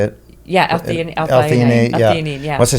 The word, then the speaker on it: L-theanine: Yeah, that I always mess up the name L-thionate. Is that how you say it? Yeah, L-theanine.